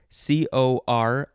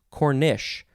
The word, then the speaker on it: cornice: of the word cornice c-o-r-n-i-c-e cornice or you can pronounce it cornish with an s-h cornish first form noun